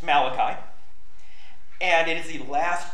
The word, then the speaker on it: Malachi: to the Book of Malachi it is not pronounced matachi I actually like pronouncing it that way because it drives people up a wall it's Malachi and it is the last book written in